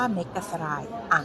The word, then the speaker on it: Megasaray: พัก มี ชื่อ ว่า เมกา สราย อ่าง ออก เสียง ตาม คน ที่ นี่ ค่ะ อาหาร ทุก มื้อ